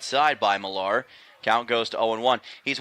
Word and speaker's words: Millar: It's spelled M-I-L-L-A-R, but it's not Miller, it's Millar, just for those curious watching on YouTube.